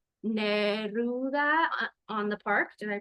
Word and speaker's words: Neruda: She's the author of another book called Neruda on the Park. Did I pronounce that right? Neruda Yes.